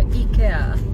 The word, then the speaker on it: IKEA: あっちの方の正しい発音で確か E ケアでしたよね違うっけだけどアメリカではケって言うんですよね